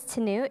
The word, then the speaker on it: Tanu: hi everyone my name is tanu it rhymes with Cano if that's easier for you